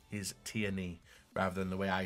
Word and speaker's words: Tierney: I got pulled up on a pronunciation of Tierney. It's Tierney.